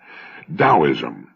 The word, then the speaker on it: Taoism: beneficial I found his discussion of the Chinese taoism of particular interest and that's spelled t-a-o-i-s-m and often mispronounced Teo Daoism The Tao signifies the energy of the universe